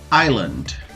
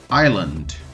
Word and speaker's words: island: Outro exemplo, island, island. O outro exemplo de silent letter.